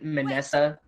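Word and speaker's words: Minessa: It's like how you pronounce Vanessa. Okay. Yeah, it's with an M. It's a little different how to pronounce. Hey! Manessa.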